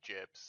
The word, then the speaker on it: gib: It's short for giblet, obviously. So it's jib.